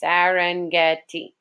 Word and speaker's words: Serengeti: a nickname of the Serengeti okay so it's pronounced the Serengeti it is the one it is one of